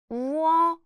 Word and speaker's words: 워: Pronounce 우 and 어 quickly together, which becomes 우어.